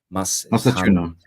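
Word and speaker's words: Mastantuono: Machuno.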